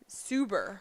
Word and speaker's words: Szuber: Defenseman, Maksymilian Szuber, Szuber. The Z is silent. Szuber.